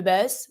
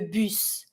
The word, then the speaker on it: bus: The bus, careful, we don't say le bus, we say le bus. Every time you have a U sound, not ou, U. Le bus. And I pronounce my S.